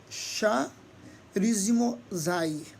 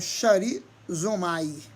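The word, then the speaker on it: χαρίζομαι: Em grego é charizomai, ou charizomai. Se pronuncia zomai, grosseiramente.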